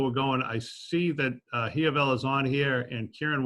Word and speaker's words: Dazayia: look at you, I think, how do you pronounce that name? It's Dazayia, but it's okay. It's so easy to pronounce. It's that I that throws me off. Yeah, it's okay. The semester is over. So Dazayia, you go first, and then Zach, what do